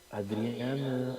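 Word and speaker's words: Adrián: The name is the feminine form of Adrian, which was the uh, moniker of six popes and several saints. Pronounced Adrian, well, we know the pronunciation, rolling the R like Adrian. Not Adrian, but Adrian.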